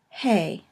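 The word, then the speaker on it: הא: It is pronounced at the beginning of a word or syllable as a H, an H sound as we would in English, but sometimes at the end of the word it is silent.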